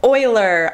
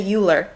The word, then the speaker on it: Euler: in geometry by Leonard Euler i've been mispronouncing his name my entire life i used to say ulor it is not alert it is euler his 1736 paper on